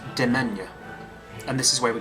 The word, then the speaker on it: demesne: It's spelt Demesne, but it's actually it's pronounced Demesne.